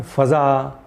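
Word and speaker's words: فضا: तो इसी तरह उर्दू में भी एक प्रोनाउंसिएशन जो है वो दिल्ली स्कूल ऑफ उर्दू से आया है, जिसमें फ़ज़ा, मकाम, तरंगा इस तरह कहते हैं, और लखनऊ स्कूल से जो प्रोनाउंसिएशन आया है उसमें फ़िज़ा, मुकाम, तिरंगा यानी अलामत लगाकर प्रोनाउंसिएशन करने की एक रिवायत है।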